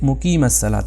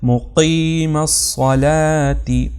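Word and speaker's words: مُقِيمَ الصَّلَاةِ: کی آواز آتی ہے۔ تو لوگ کیا کہتے ہیں مقیم الصلاۃ، یعنی وہ دوسرا قاف پڑھ لیتے ہیں۔ تو یہاں پر تلفظ ہوگا مقیم الصلاۃ۔ اسی طرح صاد کو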